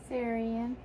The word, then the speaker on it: Sarian: Sarian.